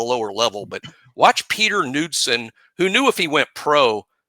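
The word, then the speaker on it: Knudson: n u UD d s o but it's pronounced nudson he is going to get a long look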